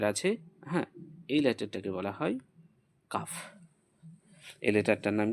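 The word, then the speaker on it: كاف: এই লেটারটাকে বলা হয় কাফ। এই লেটারটার নাম কি? সেটাকে বলা হয় কাফ। এটাকে আমরা বলব কাফ। তার আগের লেটারের থেকে একটু উচ্চারণী পার্থক্য। এটাকে কি বললাম? কফ। হ্যা। এটাকে বললাম কফ।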